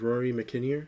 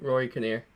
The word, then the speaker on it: Rory Kinnear: i'll say his name you said his name is rory mckinnier no rory kinnear rory kinnear um he's